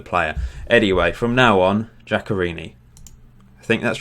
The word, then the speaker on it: Giaccherini: I was pronouncing this guy Giaccherini, wasn't he?